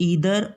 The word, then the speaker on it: either: Difference इसमें केवल इतना है कि जो ईदर और नीदर है ये अमेरिकन एक्सेंट है, और जो आइदर है और नाइदर है ये ब्रिटिश एक्सेंट है। तो हम दोनों ही एक्सेंट में दोनों ही प्रोनाउंसिएशंस इसकी जो हैं वो करेक्ट हैं।